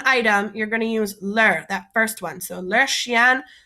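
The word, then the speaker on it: leurs: forms there's ler and ler they're pronounced the same only difference is that one has an s so if it's plural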